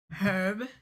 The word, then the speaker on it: herb: Do you say the H sound in herb? No, I don't. Do you? Herb.